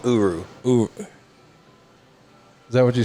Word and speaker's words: Uru: dying star yes and the metal is called uru is that what you said yeah yeah you are you and then you pronounce the name of the hammer mill near